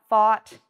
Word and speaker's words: fought: of that is thought again it has an f-a-w-t sound thought all of these rhyme bought taught fought because they all have that strong ah sound in in them okay the next word